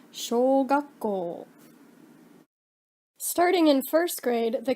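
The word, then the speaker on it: 小学校: Elementary school is pronounced shogakko.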